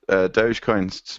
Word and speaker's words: Dogecoin: No, well, DOH is dough, J is J, and then coin is coin. So it's still Dogecoin.